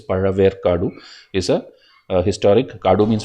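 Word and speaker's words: Pazhaverkadu: Okay, this ZHA is pronounced as Ra. Okay, Ra. That maybe people who are not in the south, maybe they cannot tell that, but it is Paraver Kadu.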